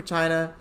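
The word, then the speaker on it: Qin: the original name for china is a topic of disagreement among scholars some people think that it that the word came out of quinn china's unifying dynasty pronounced chin and other others think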